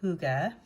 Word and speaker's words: hygge: In Denmark, this is known as huga. I've always thought that was pronounced hig, so I'm glad I actually now know how to say it.